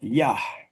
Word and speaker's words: Yah: Esa H final se pronuncia según los mazoretas. Ellos le pusieron un puntito dentro de la letra G, que es la que equivale a la H española, para que se pronuncie la H.